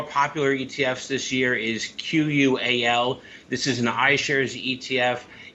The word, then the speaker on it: QUAL: ETFs this year is q-u-a-l this is an ishares ETF it's qual is how I would pronounce it higher quality Blue Chip